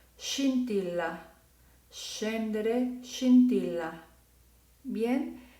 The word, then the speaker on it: scintilla: Va a suavizar el sonido y entonces se pronunciará scendere, scintilla, scendere, scintilla.